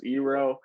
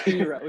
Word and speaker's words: Iroh: Yeah, I mean, and I think the correct term is Iroh, but oh, you are correct. Yes, Iroh.